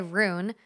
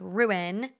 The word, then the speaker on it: ruin: someone was like oh you say ruin wrong it's r i say rune and it's ruin like rue in ruin you ruined that versus